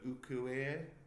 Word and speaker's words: ukiyo-e: So the reason why I like Sharaku's work is because it's such an iconic ukiyo-e woodblock print. Whoa! Check the pronunciation.